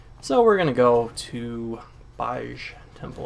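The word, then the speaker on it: Baaj: So we're gonna go to Baj Temple, or Beige. It's not Beige. Beige isn't spelled like that. It's Baj. Beige is B-I-G-E, like the color, just the color.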